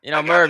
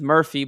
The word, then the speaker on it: Merv: But then to you, I think he thinks your name is Murphy, but it's Merv, right?